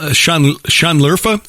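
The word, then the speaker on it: Şanlıurfa: this as interesting as i am uh shanler sean lerfa is that how it's pronounced that's right uh believed by many in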